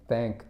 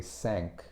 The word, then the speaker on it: thank: They pronounce the TH like an S, rather than they say S. Exactly. Instead of saying thank, they say sank, right? Instead of saying thank you, it's sank you, and that's not how it's pronounced.